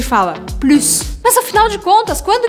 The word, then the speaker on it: plus: exemplo eu poderia falar Plus eu quero mais e eu pronuncio o s aqui agora tem outros dois casos onde eu falo esse S Lembrando que eu tô falando ele como uma serpente Plus os outros dois